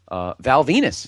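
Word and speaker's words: Venis: And that is, of course, Val Venus. Rhymes with penis.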